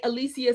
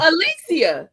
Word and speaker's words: Alicia: The way that I get most people who are our age to or older to say my name is because I say Alicia Silverstone from Clueless. Oh, Alicia.